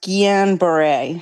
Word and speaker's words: Guillain-Barré: I'm pretty sure it's pronounced Guillain-Barré syndrome.